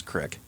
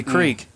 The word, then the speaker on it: creek: you just pronounce both of them as crick See, Mm. that's why I because have it's to really disagree. supposed to be creek.